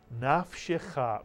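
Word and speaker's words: נפשך: The first syllable would be pronounced naf, mitsuyan. And the second syllable would be pronounced shecha, mitsuyan, shecha. Put the word together. Nafshecha, mitsuyan, nafshecha.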